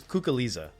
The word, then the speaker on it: Cuculiza: know your last name is it's well it's kook Alisa that's probably why I don't know it yeah most people don't even try to pronounce it I honestly don't know that I